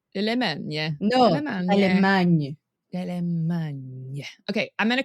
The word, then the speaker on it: Dallemagne: It's Dallemagne because she's Belgian, isn't she? Yeah. So it's French. Dallemagne. No, Dallemagne.